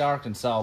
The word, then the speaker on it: Arkansas: you say it I I say it Arkansas but it's spelled it's spelled it's jacked up it's AR Kansas yeah y'all just took Kansas and put Ark on it don't you remember